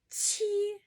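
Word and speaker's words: 七: Letter Q, which is pronounced ch, ch, okay? Ch. Qi is the number 7.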